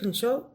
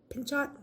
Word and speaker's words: Pinchot: contributions of George Vanderbilt Frederick Law Alstead gford pinch Pinchot excuse me and my pronunciation I don't know you can you can